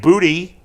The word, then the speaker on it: Boutte: but still good, and Booty. Is that how you pronounce his name? Boutte. It's Booty, but French.